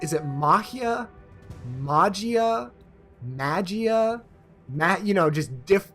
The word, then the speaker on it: Majiya: The J being an H, Majiya.